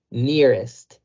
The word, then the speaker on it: nearest: Literalmente el diptongo de la E y de la A hacen el sonido I. Near, near. Y el est lo vamos a pronunciar casi como se escribe. Est, nearest, nearest.